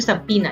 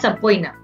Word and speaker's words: subpoena: the power to issue subpoena it's pronounced subpoena not sapoina power to issue subpoena